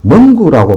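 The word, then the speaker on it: 蒙古: 신장 위구르와 티베트 그리고 중국에서는 몽골을 두고 멍구라고 발음하는데 내몽골을 너희 몽골이라고 하지요.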